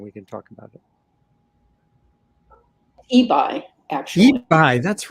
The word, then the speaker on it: Ebi: For many years I assumed it was Ebby. I don't know why. Well, okay. That's how you pronounce it in Europe, or parts of Europe you pronounce it that way. But okay. It's Ebi.